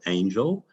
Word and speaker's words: Angyal: symposium from sydney australia my name is spelt a-n-g-y-l-a-n-g-y-a-l in case you want to google me it's hungarian for angel and my father anglicized the pronunciation but unfortunately not the spelling but i'm stuck with